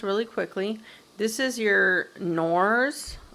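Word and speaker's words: Knorr: quickly this is your norse i think the k is silent so this is your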